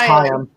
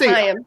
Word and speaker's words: Chaim: I think it's Chaim. It's like L'Chaim. I was wondering because Grant over here keeps saying Chaim. No, it's Chaim.